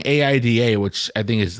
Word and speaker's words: Aida: we're just gonna go she had said AI da four times so that's what I wrote that's what I'm picturing in my head but pronounced Aida you uncultured swine hey Stephen Oh Stephen